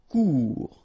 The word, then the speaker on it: court: Court. Final T not pronounced. Court. Remember, when you combine this O and U together, you get the sound OU.